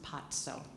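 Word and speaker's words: paco: P-A-C-O is pronounced patso.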